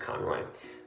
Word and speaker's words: Conroy: That's not how you say it, it's just Conroy.